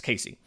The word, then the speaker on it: Caissie: I believe that's how you say it, it's Casey.